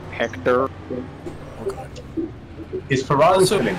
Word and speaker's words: Hector: Nah, it doesn't have an accent, you don't pronounce it like that. Just Hector.